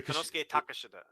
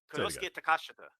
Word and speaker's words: Konosuke Takashita: It's Konosuke Takashita. Konosuke Takashita. Konosuke Takashita. Takashita Konosuke. Okay. Takashita Konosuke. Like that is how you're supposed to say it.